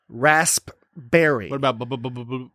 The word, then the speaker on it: raspberry: emphasizing the fact that raspberry is is largely silent P raspberries raspberry they're a raspberry do